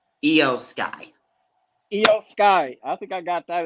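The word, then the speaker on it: Iyo Sky: how do you say her name EO Skye yo Skye I think I got that as my winner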